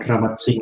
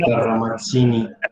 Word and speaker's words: Ramazzini: Como Ramazzini. una X. ¿Cuál X? Como T, como pizza. Una T con una Z, Ramazzini.